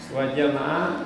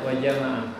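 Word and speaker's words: وَجَمَعَ: Wa jama'a fi bacanya harus pendek ya, wa jama'a. Enggak boleh wa jama'a. Nah itu artinya berbeda.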